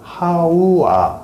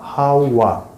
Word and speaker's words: 하와: 하와는 원어로 하와 하우아 하우와 하바 하바 발음도 하기도 하는데 예 어쨌든 그러면 이제